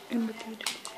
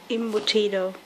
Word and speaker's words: Embutido: Embutido. Empanado. Embutido. Embutido. No worries, that's how you do it, and next you'll see it will be cooked, sliced, and eaten. This is the embutido.